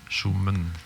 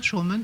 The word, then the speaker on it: shuman: des i cours sh le i court il est presque inexistant. On parle directement du m au n. Ouais comme si tu récollais tes deux consomen. Shuman comme on le prononce presque pas hein. Shuman tu l'entends shen on l'entend. Shuman on entend les i.